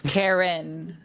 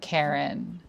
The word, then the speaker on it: Karynn: But It's Karynn, not Karen.